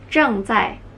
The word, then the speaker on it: 正在: Zheng zai, zheng zai, zheng zai.